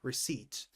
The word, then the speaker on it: receipt: Pay attention, the P here is silent. Receipt.